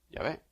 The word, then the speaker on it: Yahvé: Hoy ya sabemos, teniendo más estudios históricos, que más bien la pronunciación correcta es Yahvé.